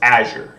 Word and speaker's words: Azure: colorless sky and then we'll see how to pronounce it azure so it's azure is the correct way to pronounce it azure